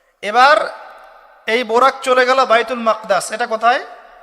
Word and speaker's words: বাইতুল মাকদিস: এবার এই বোরাক চলে গেল বাইতুল মাকদাস। এটা কোথায়? বাইতুল মাকদিস, বাইতুল মাকদাস না, বাইতুল মাকদিস। বিভিন্ন মানুষ বিভিন্ন উচ্চারণ করে।